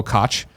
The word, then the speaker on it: Koch: Lord of Pone says, Koch Media is pronounced like caw with a phlegmy bit at the end, so it's a soft CH.